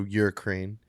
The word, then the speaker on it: Ukraine: So let's go Ukraine. Why do you say it like that? Yeah. It's Hurricane? What are you saying? Ukraine. It's Ukraine. Ukraine.